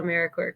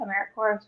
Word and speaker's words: AmeriCorps: And thank you, because I realize that I've been saying AmeriCorps wrong this whole time. I have been pronouncing the P.